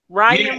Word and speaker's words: Ryan: Ryan rhymes with lion.